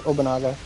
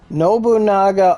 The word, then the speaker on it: Nobunaga: the summer melon event with um Oda Incognito obanaga Oda no how the do you say her name Nobunaga Oda I was like how the [ __